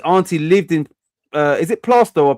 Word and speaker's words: Plaistow: His auntie lived in is it Plaistow or Plaistow? How Plaistow, isn't it?